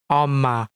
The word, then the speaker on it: 엄마: This is read as 엄마, which means mom.